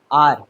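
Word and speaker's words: hour: आई am working for dash हार। हार आर। ठीक है ना? आर बोलेंगे। आर नहीं बोलेंगे। ब्रिटिशर नहीं हो हम। हम बोलेंगे इंडियन इंग्लिश। आर आर ठीक है ना क्योंकि इसमें एच जो है वो साइलेंट हो जाएगा चुप हो जाएगा ठीक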